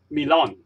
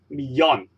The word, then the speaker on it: millón: And remember, when we see two L together, the pronunciations of these two L is not like English la. So we don't read un millón, we read un millón. And the two L's just sounds like Y or J's in English.